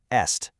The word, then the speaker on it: est: Listen to the word est meaning is. It's e. So we have the tight parlay versus the relaxed est.